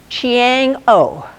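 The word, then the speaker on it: Chang'e: So what I understood them to say is Chiang-O, something similar to that.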